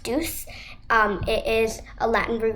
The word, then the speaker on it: duc: Duck or deuce, actually it's pronounced deuce.